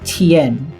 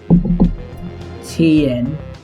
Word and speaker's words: 天: 天 It means it says Tien. 天 Okay, I pronounced it wrong, but I don't know how to pronounce it. Tien.